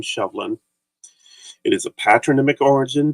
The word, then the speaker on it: Sibhlein: BH makes the V sound, the sh from the SEI. So even though you see this and may want to say Sheblin, it's still pronounced the same, Shovlin.